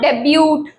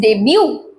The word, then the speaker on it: debut: It is not debut or debut, it is debut. It is pronounced as D-A-Y, day, and beau.